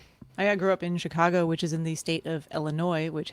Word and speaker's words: Illinois: in the state of Illinois which happens to be spelled ending in an S and then we moved to Salt Lake City and note that most people out there pronounced it Illinois's right in demand des